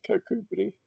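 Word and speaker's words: Kirkcudbright: For example, uh cakubri. Yeah, it looks like it should be pronounced kak k right, but it's kakubri.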